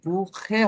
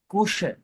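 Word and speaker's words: Küche: তার মানে এইখানে হবে কুখে, কুখে হবে না, কুশে। কুশ। কুশে। ওই মানে উমলাউট থাকলে শর্ট টাইপের স, উচ্চারণ হবে স উমলাউট গুলো।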